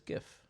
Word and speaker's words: GIF: want to yeah yeah if if the the word starts with a soft G then the three letter word must also start with the soft G yes that is my